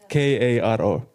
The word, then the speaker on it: Karo: Spell it. K-A-R-O.